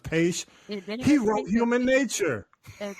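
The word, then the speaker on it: Paich: The musicians, the guy, I mean, the Toto guy, I think his last name is pronounced Paish.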